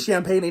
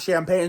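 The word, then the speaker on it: Champagnie: It's actually Champagne, not Champagne, so I've been saying his name wrong the whole time.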